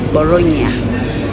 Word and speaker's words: Bologna: Yeah, bagipronouncing nga Bologna.